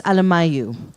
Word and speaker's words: Alemayehu: And so I was researching about Prince, let me say his name correctly, Prince Alemayehu, from what was then Abyssinia.